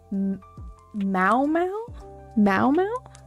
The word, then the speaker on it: Meow Meow: You have to say it like Mow. Mow or Momo.